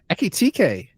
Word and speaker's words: Ekitike: signed that chap who I'm going to call Ekatike. It's not bad. Eki TK. Ekitike. Yeah, or Hugo if you want, or Ugo, because they don't pronounce the H. Ugo. Ugo Ekatike.